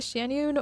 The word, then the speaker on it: Xianyun: I should head back before Xianyun, is it Xianyun? Or I think Paimon pronounced it more like a ch sound.